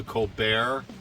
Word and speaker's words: Colbert: colleagues was also stephen colbert now stephen colbert spells his name c-o-l-b-e-r-t the t is silent i guess it's french i'm not entirely sure but he used to do a segment called the colbert report because both tees